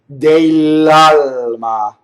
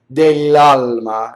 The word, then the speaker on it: dell'alma: But now we have a printed double L, and once again, I have to do double L 2 times in a row. Dell'alma, right? Now that's exaggerated. Dell'alma is how you say it fast, right? But you notice that both of those L's were held in phonation.